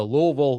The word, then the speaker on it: Louisville: Josh on our text line says, as a Louisville native and hater, say it like lol, but quickly. Loserville is also accepted.